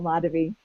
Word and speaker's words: Madhavi: So yeah, so the accent's on the first syllable, Madhavi.